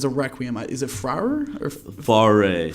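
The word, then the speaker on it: Fauré: Okay, so you're gonna have to help me pronounce this. It's a requiem. Is it Frauer or Faré? Faré.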